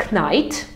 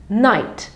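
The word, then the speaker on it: knight: widzicie oznacza rycerza i Night to nie jest knajt tylko jak mamy kN Na samym początku wyrazu to wymawiamy to jako n Night tak samo jak mi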